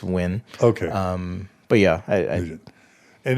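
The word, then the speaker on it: Nguyen: that's that's a wind that's n gu o ye na it's pronounced when okay um but yeah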